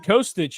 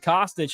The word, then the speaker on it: Kostic: The one that threw me, I was saying Kostich until Mitch Fortner said Kostich, and we know how important getting every aspect of the name right is to Mitch.